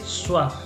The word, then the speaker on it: soif: J'ai soif. J'ai soif. La F no se pronuncia, Sí, ¿no?